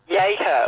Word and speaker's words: Jechow: Did I say it right? Jechow? Jechow. Jechow, all right.